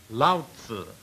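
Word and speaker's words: Lao Tzu: Laotzu is the way it is pronounced.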